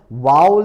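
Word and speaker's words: vowel: ആണ് നിങ്ങൾ പ്രൊനൗൺസ് ചെയ്യുന്നത് വൗവൽ എന്നാണ് ശരിക്കുള്ള ഉച്ചാരണം വൗവൽ അപ്പൊ എ ഇ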